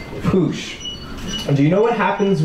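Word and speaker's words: puxe: And the X in Portuguese is a sh sound. So it's pronounced push.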